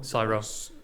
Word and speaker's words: Sora: Is it Saro? Saro. Yeah. It's a very similar name to someone else, but you might get a bit of traffic from that through Google.